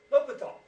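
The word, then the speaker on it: l'Hôpital: right a little bit tall how do you pronounce Hospital in French l'hopital let's talk about why we need l'hopital's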